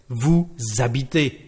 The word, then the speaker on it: vous habitez: So we don't pronounce the letter S at the end, but we are going to pronounce it because we've got a liaison with vowels and mute H. So here, actually, you live, we will say vous habitez, vous habitez.